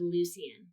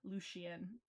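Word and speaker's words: Lucien: Mm, I think I said it right, that one, but I didn't say Lucian right. I said Lucian. Oh, yeah, yeah, yeah, with the sh, Lucian.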